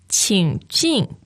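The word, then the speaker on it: 请进: 请进, 请进. Now, third tone and fourth tone.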